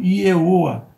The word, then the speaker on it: Ieoa: Então, Ieoa é uma forma onde as vogais têm ênfase na entonação e as consoantes, que são a raiz do nome, são pronunciadas de forma mais branda, para respeitar o nome de Deus.